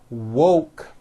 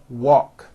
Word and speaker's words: woke: mispronounce these two words instead of saying woke when they say it it sounds like walk so instead of saying